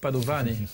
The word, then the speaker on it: Padovani: Padovani. Et le I se prononce pas trop, c'est ça, hein?